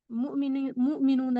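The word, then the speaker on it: مؤمنون: एक लफ्ज लिखा है मीम वाउ मीम नून वाउ नून, मुमिनूना, सॉरी मुमिनूना। या उर्दू, ये तो अरबी साउंड है, प्रोनाउंसिएशन है, इसको उर्दू में अगर पढ़े तो होगा मोमिनो, मोमिनो, ओ आवाज से, मोमिनो।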